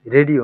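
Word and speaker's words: Radio: আমরা এটা কি জানি রেডিও না হুম রেডিও এটার উচ্চারণটা হবে রেডিও রেডিও হ্যাঁ এটার এটার ইংলিশটাও কিন্তু সেম রেডিও তাই না এরকম উচ্চারণটা ভিন্ন কিন্তু উচ্চারণটা ভিন্ন রাডিও হ্যাঁ জি ওকে তারপরে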